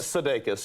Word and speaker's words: Sudeikis: Good to have you on the show now, am I pronouncing your name correctly? Because it's an unusual, Sudaikis. Sudeikis, yes, yes, it's Lithuanian, All I don't know much about my heritage Because I said CB ass earlier.